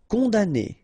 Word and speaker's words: Condamné: Condamné, okay, so it's really strange because this M here, well, technically it's not pronounced.